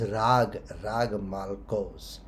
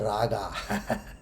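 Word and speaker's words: Raag Malkauns: used the example is rag malkos. Okay, the correct pronunciation is rag malkos, not the raga.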